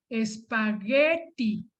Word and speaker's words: espagueti: Espagueti, con U entre la G y la E, que como no tiene diéresis, puntitos la U, es muda, entonces se pronuncia así, espagueti.